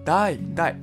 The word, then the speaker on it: 台: 日语发音叫台台。